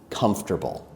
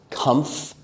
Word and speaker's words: comfortable: Here, the most difficult word will probably be comfortable. In my American accent, I say that with 3 syllables. Comfortable. Comfortable. Like that.